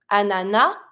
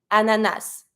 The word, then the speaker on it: ananas: word differently so pineapple some people tend to pronounce the final s some people don't Anana ananas personally I say the S ananas and then mango L